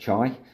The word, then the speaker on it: Chy: I'm going to listen to Chy, pronounced Chy, like sky.